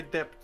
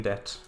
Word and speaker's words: debt: That to me sounds Anyways, I've completely repaid my depth now. I love how you pronounce the B in debt.